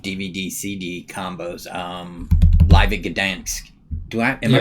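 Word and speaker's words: Gdańsk: of his live DVD CD combos, Live at Gdansk. Am I pronouncing that right?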